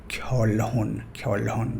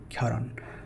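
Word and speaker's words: 결혼: Many beginner level learners will pronounce it like kyolhon, right? But this is not kyolhon. As we can see here, it's pronounced like kyoron.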